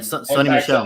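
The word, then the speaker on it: Sony Michel: And speaking of, I think they pronounce his name as Sony Mitchell, or I think I said his name right. If not, forgive me. He's no longer with the team. And he Sonny Michel.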